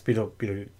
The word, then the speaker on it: Betelgeuse: So, I was first this time around, and it was Beetlejuice, or Betelgeuse, as it is spelled out in, and I think that's what the star is called, yes? Yes, Beetlejuice.